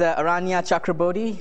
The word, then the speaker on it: Aranya Chakrabortty: one more time just for the sake of pronouncing my name correctly uh my name is Aria chakra I'm an assistant professor at NC State uh